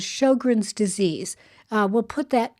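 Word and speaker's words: Sjögren's: of something is called Shin's disease uh we'll put that in the description it's spelled SJ o g r NS um it's pronounced shog like sh but SJ is the beginning shog is something that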